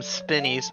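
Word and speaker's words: Spinies: used to call them spinneys but i feel like spineys is the correct pronunciation because that makes sense because they have spines they don't spin actually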